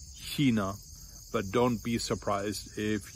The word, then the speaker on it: China: would pronounce these words China, Chemie. If you find yourself in southern Bavaria or in Austria, a lot of people will pronounce it with a hard K. China, Chemie.